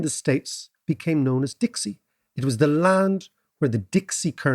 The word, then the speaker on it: Dix: talking exactly right so the English speakers looked at Dix and pronounced it phonetically as Dix whereas the French pronounce is d right Dixie became the